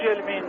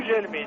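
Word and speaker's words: Gugelmin: Qu'est-ce qu'on doit dire ? Gougelmin ou Gelmin ? Gelmin paraît-il.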